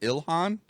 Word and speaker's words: Ilhan: I know her last name is Omar, but is her first name pronounced Ilhan?